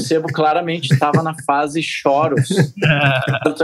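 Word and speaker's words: chorus: A pronúncia correta é choros, pra quem não sabe, tá chegando agora, choros. É pedal de coros, não, choros, CH, choros.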